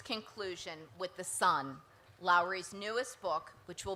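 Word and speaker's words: Son: The title is Sun, and that's spelled S-O-N, not S-U-N.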